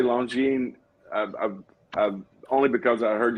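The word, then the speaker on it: Longines: only because i heard you're not supposed to say the s but that could be a bunch of crap so i'm just going to say longine as a as a guest that's hard to remember yeah i don't think long gene but then if i review a long gene after a while it becomes long genes yeah so it is actually long gene uh so you don't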